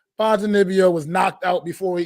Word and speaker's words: Ponzinibbio: Still, I'm probably gonna pronounce his name wrong. Ponzinibbio, I believe is how he pronounces it.